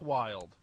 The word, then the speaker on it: Wylde: And that's wild as in Zakk Wylde from Ozzy Osbourne's band, W-Y-L-D-E. Not as in wild the way it's spelt in the English language.